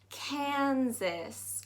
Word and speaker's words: Kansas: it's not very light so you've got kansas kansas that a actually takes down more of an i sound here kansas um so look